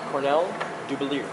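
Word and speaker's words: Cornell Dubilier: which by the way is pronounced Cornell Dubelier.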